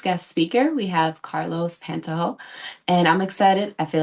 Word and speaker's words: Pantoja: instead of pronouncing it with a J, just pronounce it as if it was an H. How about that? Okay. Say it one more time. Pantoja. Pantoja.